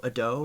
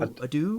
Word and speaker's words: Ado: five minutes looking up how do you say is it ad da ad do Ado ad do yeah ad do pretty play it one more time okay that's what we're going with if it's wrong it's